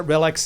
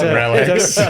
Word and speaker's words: RELX: That was Halma and Relx. Correct me Did if he I'm... say those right? We pronounce it Relx. It's Relx.